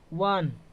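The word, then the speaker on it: one: जाएगा ए हो जाएगा वन क्या हो जाएगा वन तो हो जाएगा ए हो जाएगा क्या हो जाएगा दोस्तों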